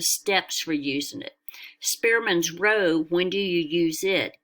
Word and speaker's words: rho: Pearson's R and then this is pronounced Rho and it can't be